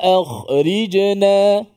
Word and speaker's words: akhrijna: Tapi mesti ri. Ri. Rabbana akhrijna. Rabbana akhrijna. Itulah safas sedikit tentang selekoh tajam. Disempurnakan huruf kha dan huruf ra yang baris di bawah.